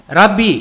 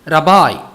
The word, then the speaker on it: ரபாய்: ஆகையால் முயலை குறித்த வடிவத்தை ராபிட் என்பதற்கு பதிலாக ரப்பி என்று படிக்கிறேன். இதன் சரியான உச்சரிப்பு ரபாய்.